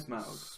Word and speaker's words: Smaug: Sorry, how do you pronounce that again? Smaug. Smaug? Smaug. Yeah. Right. Smaug. Smaug. Smog.